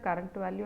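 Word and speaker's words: CURRVAL: So actually we pronounce that current value and the next value. So but the syntax will be CURVAL, cur val and next val.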